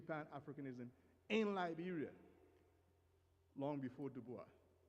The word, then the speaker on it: Du Bois: in Liberia long before Du Bois. Du Bois, I like to pronounce it in the French have the S silent, right?